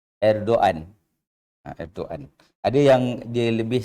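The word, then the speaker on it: Erdoğan: Dia seperti juga orang sebut Erdogan. Itu ejaan dia, tapi sebutan dia bukan Erdogan. Dia seperti hilang G tu. Erdogan.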